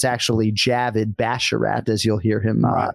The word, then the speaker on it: Javid Basharat: yet it's pretty simple there are two actual words in his name Avid and Bash and he pronounces both of those words exactly the way you would pronounce them and so I would